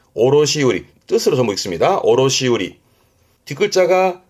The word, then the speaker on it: 卸売: 발음은 오로시우리. 오로시우리 뜻으로 전부 읽습니다.